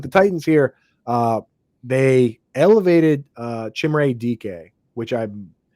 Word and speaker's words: Chimere: But with the Titans here, they elevated Chimere DK, which I've said it. I've been told that's how you say it. I checked with Bob Harrison. That's Chimere DK is my understanding, but it still doesn't necessarily.